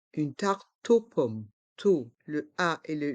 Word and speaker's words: tarte aux pommes: Une tarte aux pommes. On fait la liaison avec le T et le O. Le E est muet. Une tarte aux pommes.